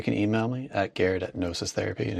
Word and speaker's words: Gnosis Therapy: And when I say nosis therapy, it's G N O SIS. The G is silent.